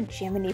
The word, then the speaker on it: Gemini: the NASA guys PRT pronouncing it Jiminy as in cricket still don't believe me check out all of these NASA film reels describing it as the Jiminy program anticipation was high